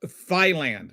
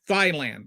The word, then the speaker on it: Thailand: He pronounced the word Thailand, Thailand, like chicken thighs. And then Dinesh D'Souza went like on a 4-day defense, saying everybody else in the world pronounced it Thailand.